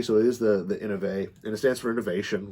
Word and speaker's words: Inovai: talking about the innovate to make sure i pronounced it right because i know people called it the innovi in a end of a you know and